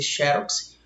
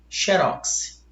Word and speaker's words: xerox: pode ser xerox ou ela pode ser xerox. Ambas estão corretas. Ambas, tá? Xerox com acento, perfeito, essa pronúncia, paroxítona terminada em X, ou xerox, oxítona perde o acento e a sílaba tônica vem para cá.